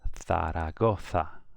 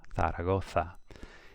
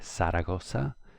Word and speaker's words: Zaragoza: But for Spain, a Z is like a TH.